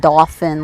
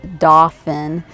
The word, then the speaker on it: Dauphin: bits dolphin horsemanship and it's not dolphin like the fish it's dauphin d-a-u-p-h-i-n i believe that's